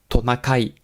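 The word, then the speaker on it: トナカイ: Ren le Ren en japonais ça se dit tonakai alors tonakai ça s'écrit écrit en katakana parce que c'est du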